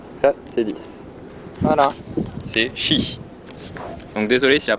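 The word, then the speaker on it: 十: C'est chi. Donc désolé si la prononciation n'est pas parfaite, hein, je suis pas chinois.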